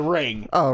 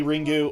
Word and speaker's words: Ringu: the American movie I I only know Ringo because that's that's how they say it in Japan yeah have you seen Ringo it's ringu or it's either Japanese or Korean that's Japanese no no either Japanese say ringu or it's Korean so